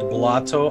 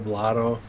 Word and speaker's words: Blotto: Just for people in chat, I know it's called Blotto. I like saying Bloto, Bluto, Blotto. It's just part of the routine, man. Relax. I know how to pronounce it.